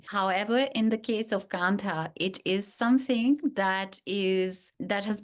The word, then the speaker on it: Kantha: It's pronounced Kantha. So it's not American Kantha, it's Kantha.